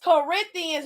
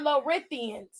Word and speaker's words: Corinthians: no it is not it's Corinthians not low earthians you didn't read nothing